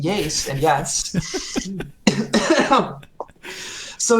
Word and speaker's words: YASE: and I was like, "Well, it's pronounced YASE," and yes.